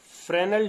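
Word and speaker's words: Fresnel: Diffraction पहला type हो गया फ्रेनेल डिफ्रैक्शन। इसको हिंदी में कहते हैं फ्रेनेल का विवर्तन, फ्रेनेल का विवर्तन। यहां एस जो है वो साइलेंट है, पढ़िए तो FRE, फ्रे एनियल नेल, फ्रेनेल्स डिफ्रैक्शन।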